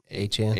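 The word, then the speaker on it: Achane: The one touchdown was my boy or how does he pronounce it again? Achan.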